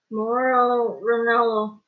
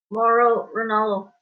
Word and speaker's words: Mauro Ranallo: I keep forgetting how to say his name, but my wife is really good at pronouncing his name. What is it? Mauro Ranallo. Mauro Ranallo? No. Mauro Ranallo.